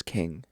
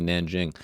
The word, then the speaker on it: Nanjing: It's I always heard it as king. That's what I always thought, but apparently Nanjing.